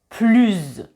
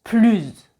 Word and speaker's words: plus: Comme je vous l'ai expliqué dans la vidéo sur la liaison, quand on fait la liaison avec un S, on prononce le son Z. Donc, avec un adjectif commençant par une voyelle, on prononce plus.